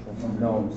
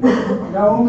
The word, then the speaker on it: GNOME: programs that we use, it has a G in front of it, you pronounce the G. Okay, that's just the way Linux is. So you don't say GNOME is the guard gnome, GNOME is the graphic user interface.